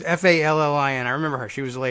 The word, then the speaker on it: Fallin: Does they pronounce it Phelan? Like, I'm failing at my job. It was Fallin.